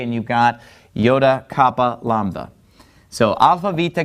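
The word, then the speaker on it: iota: next three is a group also which are Yoda Kappa and lambda all right and the reason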